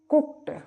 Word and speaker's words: cooked: COOKED, यहां पर भी डी का उच्चारण कुक्ड।